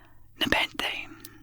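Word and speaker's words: nepenthe: a person recently married nepente a noun a drink or drug causing sorrow to be forgotten the word is pronounced neeny with the stress on the second syllable its origin is a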